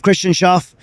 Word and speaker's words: Christian Schauf: Is Uncharted Supply Company, and on the show today we have Christian Schauf.